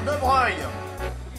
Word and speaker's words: de Broglie: Affaire de Breuil. Ça s'écrit de Broglie. C'est des noms de fauchetons, ça s'écrit pas comme ça se prononce.